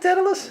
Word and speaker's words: Daedalus: Dallas, however the fuck you pronounce that guy's name. Was it Daedalus?